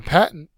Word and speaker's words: patent: the sentence portion so a patent the syllable is the first level that's accented the noun form is exclusive